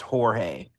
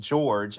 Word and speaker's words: George: But yeah, when I'm in a a Spanish part of town, I notice that people assume it's Jorge, which is fine, but you know, I I claim George.